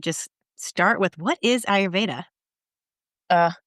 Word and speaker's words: ayurveda: have trouble saying that am I saying it right thanks ell yes ayurveda that's correct yeah definitely so cool